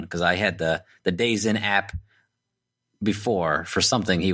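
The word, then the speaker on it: DAZN: but it's Daz n it sounds like days in right yeah that's what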